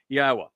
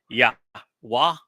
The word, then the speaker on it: Yahweh: Yahweh, God's one and only name. Not Yahwa, not Yahweh, not Jehovah, not Hashim, not Adoni.